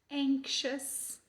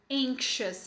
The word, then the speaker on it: anxious: Anxiety é ansiedade, anxious é ansioso, mas a pronúncia das duas não tem nada a ver. Aqui você vai colocar um som de k, né? Anxious.